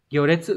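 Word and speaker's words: 行列: Chữ hành là gyo, chữ đằng sau là chữ liệt sẽ là detsu. Các bạn chọn phương án số 4 là phương án chính xác. Gyo detsu có nghĩa là cái hàng, hàng người xếp ấy.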